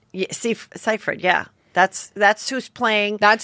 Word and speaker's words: Seyfried: Seyfried? Yeah, Seyfried, yeah.